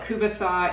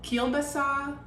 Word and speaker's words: kielbasa: We start out with a garlic sausage or Ukrainian sausage, or sometimes we call it kubasa. It can be called kielbasa.